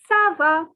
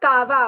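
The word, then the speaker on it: ça va: komo the next two words are sava it is not kava okay okay so whenever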